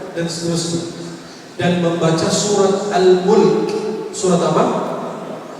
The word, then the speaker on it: Al-Mulk: Dan membaca surat Al-Mulk. Surat apa? Bukan Al-Muluk. Jangan ikut-ikutan dengan orang. Al-Muluk itu salah.